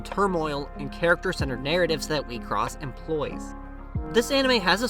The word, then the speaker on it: WIXOSS: Enter the world of WIXOSS, pronounced WIXOSS, not WIXOSS.